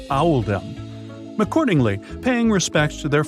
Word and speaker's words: Oldham: This choice was made to reflect the pronunciation of Oldham in the local accent, which is Owldom.